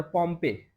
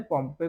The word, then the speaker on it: Pompey: और उस समय जूलियस सीजर और पॉम्पे, POMPEY, तो ये दोनों स्पेलिंग आप लिख लीजिए।